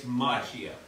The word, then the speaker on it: Macchio: It's Macchio. Of that's how it is. He... Of course it is. That's how he pronounces his name.